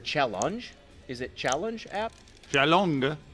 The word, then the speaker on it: Challonge: Chalong. Yeah. Chalong. It's the website Chalong. What's the Like website? challenge. It's like challenge, but it's challenge with an O. And you have to say it like you're Finnish.